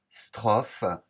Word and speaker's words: strophe: Dans le premier mot, strophe, il y a le son F qui s'écrit PH. Ce sera donc la difficulté de ce mot que je souligne ici.